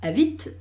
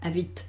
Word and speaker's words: habite: Lo que sí tengo que pronunciar claramente, no tengas miedo, a veces la gente no sabe muy bien cómo pronunciar, no, es habite, habite. Yo hago, ¿qué pasa? Que no pronuncio una T, pronuncio el sonido T, habite.